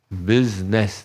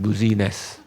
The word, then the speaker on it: business: and not only that the I is silent business not buziness so if we can